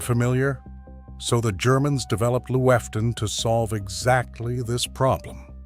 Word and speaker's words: Lüften: In Germany, there is a practice called Lüften, pronounced Lüften, and it translates to airing out.